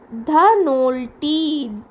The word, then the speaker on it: Dhanolti: Children, सो आप ये जो टूरिस्ट प्लेसेस है ना हिल स्टेशंस की, इनकी नेम्स एक बार अच्छा से प्रोनाउंस करके देखिए. Mussoorie, Nainital. Next the third one इट इज़ Dhanolti, Dhanolti, Dhanolti and Auli.